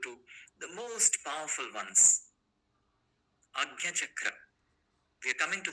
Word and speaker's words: Ajna: This pronunciation is Agnya. Many people also pronounce Ajna, but Agnya is the right pronunciation in Sanskrit.